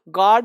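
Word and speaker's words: guard: अब देखो यू क्या है, साइलेंट है। फोटो देख के पढ़ो, गार्ड है, देख रहे हो हाथ में गन है, यानी गार्ड है। जी यू नहीं है, GARD, गार्ड पढ़ो।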